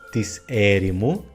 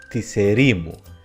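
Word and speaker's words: της ερήμου: Por ejemplo, el genitivo de la palabra hierimos, el desierto, no es tiserimu, sino tiserimu.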